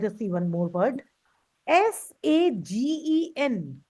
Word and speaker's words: sagen: S-A-G-E-N. How will you pronounce this word?